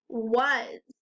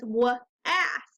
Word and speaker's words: was: this new tricky word this tricky word is was if you tried to sound it out you might think it says w ass but that's not quite right it's was the W says the right sound here the S says the z sound but the a says a that's tricky repeat the sentences after